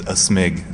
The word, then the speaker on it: aSmig: say my name is a smig sort of like you're sneezing you know a snake